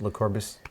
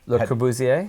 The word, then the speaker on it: Le Corbusier: How does that pronounce? Le Corbusier. Le Corbusier.